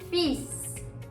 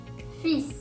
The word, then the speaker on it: fils: Fils. Fils. The L is silent. Fils.